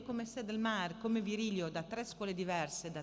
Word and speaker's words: Virilio: Il professor Paul Virilio, che in Francia pronunciano Virilio ma ormai in Italia si dice Virilio, è un filosofo che si occupa in particolare di catastrofi, la filosofia della catastrofe.